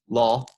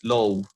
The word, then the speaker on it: law: high in the man this word is pronounced it law like this law law open all law please include commercial concerns